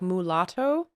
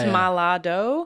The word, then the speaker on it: Malado: And having grown up in Africa, I think people often wonder if it sounds kind of like mulatto, but it's Malado.